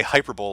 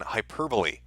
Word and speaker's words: hyperbole: because I say uh I say hyperbole like it's a futuristic sport rather than hyperbole that is uh that is my up so yeah so Matt